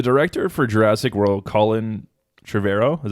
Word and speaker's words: Trevorrow: here so the director for Jurassic world Colin Trevorrow is how you say it he was initially